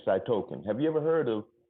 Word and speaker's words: cytokine: around to doing that it spelled C Y T oh-kay I've in E so I token I just say cytokine have you ever heard